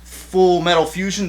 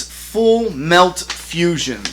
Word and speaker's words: Full Melt Fusion: Oh my god, I've been saying it wrong this whole time. What am I? I'm thinking Full Metal. It just clicks. See, sometimes my brain's on autopilot. It's Full Melt Fusion.